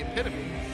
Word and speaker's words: epitome: The epitome.